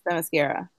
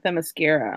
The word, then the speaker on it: Themyscira: It's more like it sounds like more like a Q sound, kind of Themyscira, like Kira. Themyscira, okay.